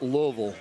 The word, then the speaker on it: Louisville: For some reason, everyone wanted to be in Louisville. I don't know why everyone wants to be in Northern Kentucky. It's pronounced Louisville.